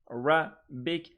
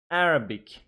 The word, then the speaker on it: Arabic: are taken care of three syllable a Arabic Arabic Arabic on the first syllable Chinese Chinese like this